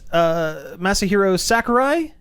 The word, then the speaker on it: Masahiro Sakurai: Nintendo and Masahiro Sakurai. Did I pronounce that correctly?